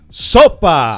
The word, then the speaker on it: SOPA: So the idea is that it's pronounced Sopa. Sopa. There you go. Right, it's got a Some little enthusiasm into it. Right, it's got a little punch.